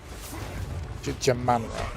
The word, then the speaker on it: Jamanra: Jamanra, that's how you say his name.